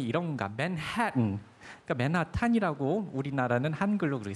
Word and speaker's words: Manhattan: 이게 무슨 식의 발음이 이런가? 맨해튼. 그러니까 맨하탄이라고 우리나라는 한글로 그렇게 쓰잖아요. 끝에 아가 붙어가지고 맨하탄 아니면 맨해튼이라고 요즘에는 쓰기도 하지만은요.